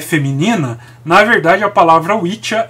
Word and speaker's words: Wicca: Então, a palavra Wicca, que se pronuncia Witcha, né, é em inglês